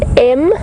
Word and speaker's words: Mvula: You were wondering if I could spell it for you. Yes, I can. It is M-V-U-L-A, Mvula, and it means rain.